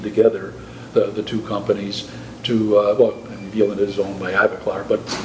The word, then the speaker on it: Vivadent: it's spelled with a W and pronounced with a V.